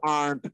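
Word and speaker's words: aren't: আছে, এম I doing, আর্ন্ট I doing, শব্দটার উচ্চারণ কিন্তু আর্ন্ট করেছি, আবার পড়ে না আরেন্ট এরকম উচ্চারণ করবেন না, কন্ট্রাকশনের ভিডিও গুলো দিয়েছি আপনাদের জন্যই।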